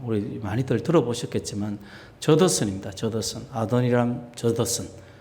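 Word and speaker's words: Adoniram: 아도니람 저더슨. 좀 어렵죠. 아도니람 저더슨입니다. R을 영어 발음하면 에도니람이라고 하는 사람도 있지만 어쨌든 저더슨이에요.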